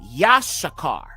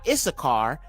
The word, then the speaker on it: Issachar: Okay, so Yashakar. Okay, not Issachar, Yashakar. So you have two shen in his name.